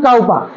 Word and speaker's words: Cowper: হবে বৃষ্টি হ্যা আচ্ছা এখানে অনেক উচ্চারণ করা যায় এটাকে কুপার করা যায় কাউপার করা যায় আরো সবথেকে ভালো হয় উইলিয়াম কাউপার ককার রটা বলবি না উইলিয়াম কাউপার ঠিক আছে কাউপার William কপার William কুপার William কাউপার সব বলা যায় তোরা তোদের মত নামের